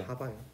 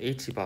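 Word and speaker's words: ħ: 이걸 하바라고 읽는데, 하바요. h를 독일어로 하라고 그러거든. 네. 양자역학이 독일에서 많이 발전해가지고 보통 h를 좀 있어 보이게 읽을 때는 하라고 읽어요. 그래서 하바라고 보통 읽는데, h바 혹은 하바라고 읽는데, 이거는 플랑크 상수 나누기 2파인데,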